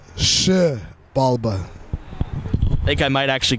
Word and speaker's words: Xibalba: So a lot of people like to say XIBALBA. It's XIBALBA.